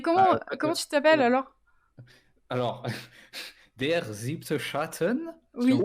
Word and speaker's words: Der Siebte Schatten: Alors, Der Siebte Schatten, Oui. si on prononce correctement.